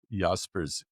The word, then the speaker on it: Jaspers: spelled with a J like the park not too far from us in Edmonton. Carl Yaspers German Yaspers.